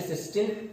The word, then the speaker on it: cysteine: But here these amino acid सिस्टीन, सिस्टाइन, सिस्टीन, this is सिस्टीन एंड सिस्टाइन is different. सिस्टाइन, दो spellings है, okay, this is different, but वी are studying this सिस्टीन, TEINE।